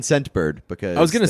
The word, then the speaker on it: Scentbird: Scentbird. What's it called? Scentbird. Scentbird? Scentbird. It actually says in the read here, emphasize the T in Scentbird because I was gonna say, the name is difficult to hear.